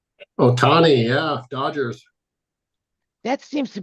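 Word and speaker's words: Ohtani: about this guy this uh so high oh Otani am I pronouncing his name right Otani yeah Dodgers that seems to be I mean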